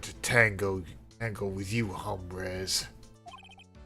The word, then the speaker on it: hombres: tango tango with you hombres the H is silent it's not sounding my